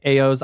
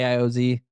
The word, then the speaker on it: AIOZ: AI, well, people say AOs. I just say AIOZ. Like it's kind of always been.